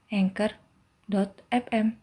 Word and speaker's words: Anchor: Atau buka anchor.fm untuk memulai. Ya, tulisannya ANCHOR. Dibacanya Anchor.